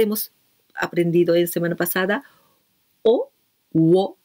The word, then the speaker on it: を: O, wo, escribimos wo, pronunciamos o, ese es complemento directo.